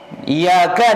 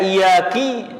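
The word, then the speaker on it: إياك: Jali kalau kesalahannya fatal seperti merubah iyaka dibaca iyaki ya ini salatnya tidak sah atau alhamdulillahibabbil alamin dibaca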